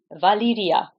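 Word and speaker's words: Valyria: valion one so the country the place is Valia the house is valion okay another one I heard pronounced in different ways isas Dragon they say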